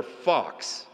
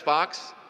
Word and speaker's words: Fuchs: them, while working on my name sign for Fox, F-U-C-H-S, Fox, that's an F, that's a Fox. Sign language helps with a name like mine when it's spelled strangely and often pronounced in embarrassing ways.